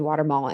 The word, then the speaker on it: Watumull: got to sit down with the founder, Watumull. Is that how you say it? Mm-hmm. Okay. So I actually got to sit down with the founder, Watumull, and break down the science and break down